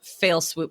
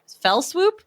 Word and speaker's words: fell swoop: one and part two all in one fail swoop here so we are Fell Swoop fail what is it Fell Swoop yeah I knew I said it wrong thank you English teachers